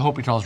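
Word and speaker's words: L'Hôpital: And so that brings us to section 3.7 the hope's rule. Now it's spelled hospitals rule.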